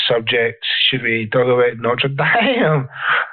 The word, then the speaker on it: Notre Dame: Should we talk about Notre Dame? Oh yeah, which is that's the correct French pronunciation of that.